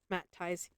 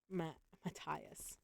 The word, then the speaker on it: Matthias: I phonetically speak, and it makes funny names. Matthias, Math ties. Sis is closest, but there's a H in between the T and the I, and there are two T's.